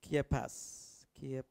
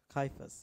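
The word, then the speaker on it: Kephas: to have a go i think it's pronounced kia pass kaifas ya ki k-e-p h-a-s-k right so everyone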